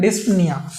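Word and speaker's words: dyspnoea: हम लोग बोलते हैं डिस्प निया इसका प्रोनाउंस अच्छे से करना भाई डिस्प निया स्पेलिंग थोड़ा सा इसमें गड़बड़ है डिस्प निया इसका प्रोनंसिएशन है अब यह देखो यह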